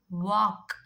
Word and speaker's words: walk: M, not palm, palm, walk, chalk, folk, talk, calf, calm, balm, almond. If you look at all the words, before L, if you have A, O, U, the L becomes silent.